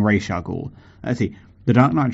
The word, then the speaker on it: Ra's al Ghul: Americans, it's Ra's al Ghul, not Ra's al Ghul.